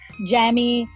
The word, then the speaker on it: Jamie: हालांकि the right pronunciation is जेमी, बट भाजीपाला हो गया मेरे नाम का.